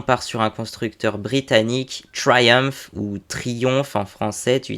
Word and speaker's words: Triumph: alors là on part sur un constructeur britannique Triumph ou Triumph en français tu dis comme tu veux mais en anglais anglais ça se prononce bien Triumph et donc c'est un principalement connu comme constructeur